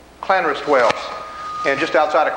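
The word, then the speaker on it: Llanrwst: we have a double l again and that's pronounced clanrest clanrest whales and just outside of clan roast is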